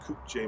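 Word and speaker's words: Kukje: the parent company that manufactures this tractor is pronounced koop j machinery and they're in south korea that is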